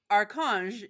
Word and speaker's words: Archange: Well, he sends me Archange is archangel. It's pronounced arc. So her name was Archange. Okay. So yeah, archangel. Yep. Yeah. Got it. And that would make sense with French Canadian to make that a k.